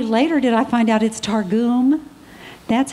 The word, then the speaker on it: Targum: And for years, I thought it was Targum. I thought it was the Targum Bible. I said that on TV, and only later did I find out it's Targum.